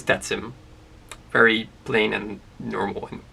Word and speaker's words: Tatsym: Tatsym, like Lithium famously called it. Tatsym, but the correct pronunciation of how I would like my channel to be referred to is Tatsym.